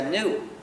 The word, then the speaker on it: GNU: juegos de palabras, porque según el diccionario la G es muda y la palabra se pronuncia new, como nuevo.